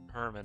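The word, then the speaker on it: Germán: Um the reason why it's spelled like German is because uh in Spanish you want to spell German, spell it like how they German, but you say Herman.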